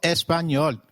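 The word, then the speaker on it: español: It is pronounced as ni like in canyon. So, can you try saying espanol? It is called espanol.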